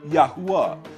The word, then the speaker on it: Yahuwah: of writing and preserving the Tetragrammaton, that is the 4 letters of the Creator's name, Yod-He-Waw-He, which is pronounced Yahuwah.